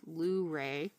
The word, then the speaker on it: Luray: went into town in I guess it's pronounced Luray. I was saying the wrong thing way.